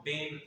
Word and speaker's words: बेन: Basically Gujarati भाषा में बहन को बेन करके जो है प्रोनाउंसिएट किया जाता है, तो बेन, जैसे आनंदी बेन पटेल उत्तर प्रदेश की राज्यपाल, ठीक, वेरी गुड।